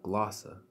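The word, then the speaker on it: γλῶσσα: as you can see the transliteration says salokya the phonetic meaning I was pronounces glossa right that's the Greek word for glossa here we won't look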